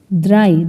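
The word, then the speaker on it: drei: এখন হচ্ছে আমরা দেখব ডে ডে তে দেওয়া আছে ডে এর এ ই তাহলে কি হয় দ্রাই দ্রাই মানে হচ্ছে তিন তারপর এ তে দেওয়া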